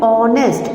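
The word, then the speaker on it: honest: देखो मैं कैसे बोल रही हूं, ऑनेस्ट.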